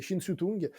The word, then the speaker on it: Shin Tung: Alors, je pense que c'est une Ah, question de prononciation si c'est en cantonais ou en mandarin, mais c'est Shin Tung, connu aussi à l'étranger comme Tony Shin, qui